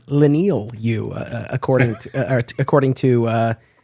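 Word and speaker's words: Leinil Yu: I just wanted to confirm with him the pronunciation of his artist on Superman Birthright mhm as it turns out it's lenal you according according to to uh uh to to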